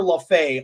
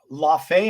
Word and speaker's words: Laufey: LaFay, I think his name is LaFay, or yeah, maybe pronounced that way. I thought it was LaFay, but I could be wrong.